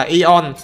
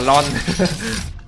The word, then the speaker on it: ion: cái xuống người ta là ion chứ không phải là lon mà ta cứ cố tình đọc là lon Tại vì chữ l nó viết hòa lên nhìn giống chữ Y Sinh bảo rồi được